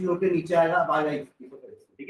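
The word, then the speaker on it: oesophagus: नीचे आएगा, अब आएगा इसोफेगस, ठीक है? एंड डालो। नेक्स्ट थर्ड लिखना इसोफेगस, ओ साइलेंट है ना इसमें भी, ओ साइलेंट, क्या बनेंगे अपन इसको? इसोफेगस।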